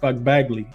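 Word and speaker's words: Magbegor: They also played it without Fagbagley. I think is how you pronounce her name. Fagbagley is how you pronounce her name.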